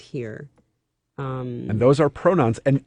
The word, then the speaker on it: hir: and here which is spelled hir and pronounced here and those are pronouns